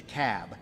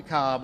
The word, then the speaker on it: Cobb: the room it's the cab not to cowb not the cobb it's the cab so we got to pronounce these things doherty another one of those where albini is they're 74.